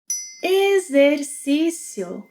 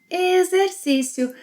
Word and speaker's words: Exercício: X, and another vowel, X will sound as a Z. Exercício.